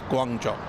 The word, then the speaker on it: Guangzhou: That's a different pronunciation, Kevin. Well, You just give me officially it's Guangzhou.